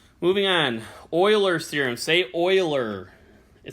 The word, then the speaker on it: Euler: this is the edges all right moving on oiler serum se Euler it says Euler but it's pronounced Euler I promise I'm not telling you the wrong